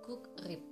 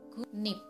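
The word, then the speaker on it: 국립: Untuk contohnya, gugrip harusnya dibaca gugrip, tapi yang benar pengucapannya gung-nim. Gung-nip.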